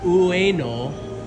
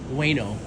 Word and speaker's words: Ueno: In this episode, we're going to be leaving from here at Ueno. It's actually pronounced Ueno, but in English they do it Ueno.